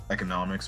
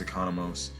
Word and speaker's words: Economos: john economos um so i said his name wrong in the first video i think i called him like economics or something or something john economics or something it's economos um and they're just